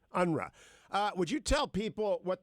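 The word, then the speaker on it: UNRWA: the near East or how do you guys pronounce the acronym at the UN unruhe unruhe would you tell people what the controversy about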